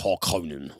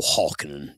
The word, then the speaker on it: Harkonnen: Opposing the Atreides, or, you know, an uneasy truce, shall we say, is House Harkonnen, or Harkonnen, depending on what pronunciation you like, who reside on the planet of Gedi Prime.